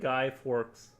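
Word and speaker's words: Guy Fawkes: We say it like guy forks. Ah, we say it like guy forks.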